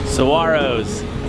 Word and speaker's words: saguaro: can't destroy them and there's a silent G in their name and my friend George can tell you exactly what the call saguaros I find that when